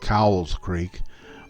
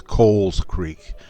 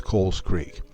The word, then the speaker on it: Cowles Creek: I found out that the right pronunciation is Cowles Creek, like C-O-L-E-S, Cowles Creek.